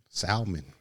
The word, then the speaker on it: salmon: salmon is the worst why is there an allen there just chilling salmon oh shoot and this one has a silent L what did I got